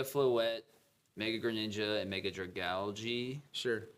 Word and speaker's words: Dragalge: It's Mega Floette, Mega Greninja, and Mega Dragalge. Sure. I always say Dragalge and piss Chris. It's because that's not how it's spelled.